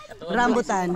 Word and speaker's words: rambutan: bringing some ratan how do you say it rambutan rambutan or Li right what is it called